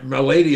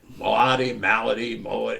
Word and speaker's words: Milady: Milady is my real last name. Oh, right. Okay. No, I didn't know this. It's Irish. So when I was in Boston, and everybody mispronounces it, right? Malady, you know, and I'm used to that.